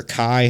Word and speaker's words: ki: It's like key or kai, however you want to pronounce that, or like Dragon Ball Z. Yeah, it's like yeah, it's like key, chi, maybe chi. Let's see. Yeah, key it's key usually.